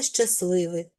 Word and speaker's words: щасливий: Утворимо прикметник від слова щастя. Додаємо суфікси і виходить складне для вимови поєднання ситил. Тому у групі приголосних ситил середній приголосний т випадає, тобто спрощується і отримали слово щасливий.